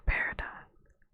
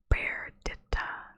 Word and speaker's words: Perdita: Emerith and Peridot. That's not how you say that name. Perdita. What? Perdita. That is how you say that. Perdita.